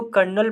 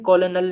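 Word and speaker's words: colonel: तो lieutenant कर्नल, इसको कर्नल पढ़ते हैं, कॉलोनल नहीं पढ़ते, ठीक है, कर्नल, इसकी स्पेलिंग भी याद कर लें, बहुत इंपॉर्टेंट।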